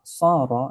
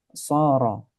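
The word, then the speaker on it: صَارَ: Antara sin dengan shad tempat keluarnya sama. Yang membedakan hanyalah shad itu tebal sehingga suaranya menjadi sha. Mungkin sebagian orang yang ee tidak terbiasa mungkin dia akan membaca sa misalnya. Sa itu enggak benar ya, bukan sa tapi sh bedakan antara saro dengan soro ya.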